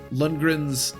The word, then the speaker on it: Lundgren: As we approach Kalen, Lundgren's, I said it right that time, obstacles will be more difficult to overcome.